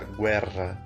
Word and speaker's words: guerra: guerra guerra e atenção que sempre tiver duas letras iguais como esses dois erres aí que vai assim tu acha pronúncia tenho que ficar guerra então eu estico um pouquinho quando a letra R